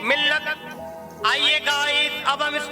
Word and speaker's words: مِلّت: Guys, जब भी हम मिल्लत को लिखते हैं तो लिखने में लाम एक बार आएगा और उसके ऊपर तशदीद की एराब लगाई जाएगी। लेकिन जब भी हम मिल्लत की हिज्जे करेंगे तो लाम को 2 बार पढ़ा जाएगा।